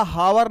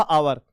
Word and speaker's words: hour: और यहां पे हमने लिखा हावर नहीं लिखा, हमने यहां पे लिखा आवर।